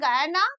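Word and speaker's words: Guyana: করে তো সেটি হচ্ছে গায়ানা গুয়ানা অনেকে উচ্চারণ করে কেউ গায়না উচ্চারণ করে গুয়ানা যেটি কিনা বেসিক্যালি একটি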